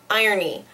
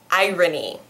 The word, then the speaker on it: irony: It's not irony. Although, I think that might be also an accepted pronunciation because I hear a lot of people say it that way. But I think the most standard pronunciation is irony. So this one is pronounced as you would expect, Unless you've just been